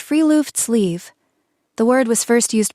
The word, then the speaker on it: friluftsliv: The first concept is friluftsliv, pronounced free-loofts-leave.